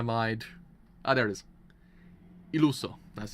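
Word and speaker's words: Illuso: Iluso. That's how you pronounce it.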